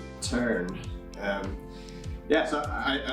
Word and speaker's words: Turn: did call the office you might even say turn and try to save your life American but